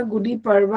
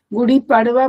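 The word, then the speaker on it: गुढी पाडवा: हमने मुझे बोला था गुडी पवा आपके यहां महाराष्ट्र में सेलिब्रेट करते हैं। आई थिंक मैं प्रोनाउंस ठीक कर रही हूं। इसको गुड गुडी पडवा बोलते हैं ना।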